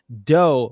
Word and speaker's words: dough: There's cough, which rhymes with off, enough, which rhymes with stuff, dough, which rhymes with no, through, which rhymes with